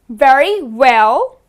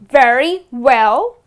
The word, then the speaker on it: very well: remember we said that when you are trying to pronounce the letter v we always bite our v's whereas when you are trying to pronounce w you always kiss your w's okay so let's practice